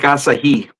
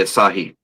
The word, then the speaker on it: Asahi: Just cuz you're a Most Most people mispronounce it and say Asahi, but it's Asahi.